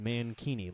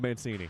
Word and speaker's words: Mancini: Mancini Mancini you know we debated before this game whether or not we would pronounce it mankini like a man bikini I'm going with Mancini for that reason exactly a slap shot